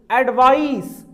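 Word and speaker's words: advice: इसका सही-सही प्रोनाउंस आप करेंगे। एडवाइस ये साउंड होगा।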